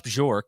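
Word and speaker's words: Bjork: Administration here because rash bjor is am I saying that right Ross bjor is that is that how you say it I think it's Bor bork okay no so the J yeah bork so he he's he's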